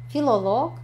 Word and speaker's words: филолог: В болгарском языке всегда ударение падает на конец при профессиях, когда есть лог в конце. Да? Филолог, археолог, геолог, биолог и все в этом роде.